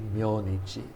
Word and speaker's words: 明日: That in formal speech would be myonichi, myonichi, sakujitsu and myonichi.